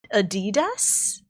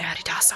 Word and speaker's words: Adidas: Adidas?